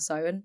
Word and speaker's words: Samhain: can we all please applaud Emily for her correct pronunciation of Simon because a lot of